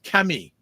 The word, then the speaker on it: Camille: promotions and she says Camille is a unisex name and it's French so French pronunciation is Cami oh okay oh nice